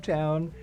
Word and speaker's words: Towne: But it is even more archaic than that, which is kind of why we like the archaic E, the silent E at the end of Towne.